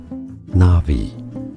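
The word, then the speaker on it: Na'vi: So how do you pronounce the name of the local language of Pandora? Navi.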